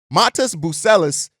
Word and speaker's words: Matas Buzelis: I'm see I I I checked how to pronounce his name Matas buellis there you go uh is a guy that